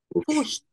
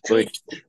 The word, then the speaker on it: pushed: Pero en este caso no. Pusht. ¿Con la T? Claro. Pusht. Una T. Pusht. He pushed the line. He pushed the line. ¿Ok? Es una T.